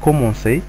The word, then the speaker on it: commencer: افيك اون سي دي، يعني هاد الشرطة اللي تكون تحت السي بحيث نقدروا ننطقوه ان سي ماشي ان كا، لأن السي مع الاو والسي مع الا ينطق كا أو كو.